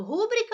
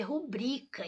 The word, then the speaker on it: rubrica: vem aquela questão de Será que eu falo rúbrica ou rubrica tá Ah a palavra é rubrica então é uma paroxítona